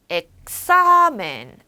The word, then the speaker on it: examen: 시험이란 단어가 examen인데 모음만 세볼게요. 뒤에서 n으로 끝났네요. 뒤에서 2번째 강세가 들어가니까 하나, 둘 여기에 액센트가 들어간다는 거죠. examen, examen, examen 이렇게 마르테스, 마르테스, 마르테스 이렇게 읽을 수 있잖아요.